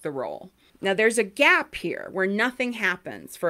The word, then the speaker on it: Gee: his name is Richard G. In some of the videos I watched, they pronounce it Gee because it's spelled G-E-E. But in the Australian, like, documentary, they pronounce it G. So Justice G.